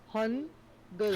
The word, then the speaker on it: Hangul: Hangul. Hangu. Good. Like, No, cook is spelled as Gook.